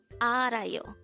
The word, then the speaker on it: 알아요: we're at number2 AR Aro this is pronounced as a three syllable word the first syllable is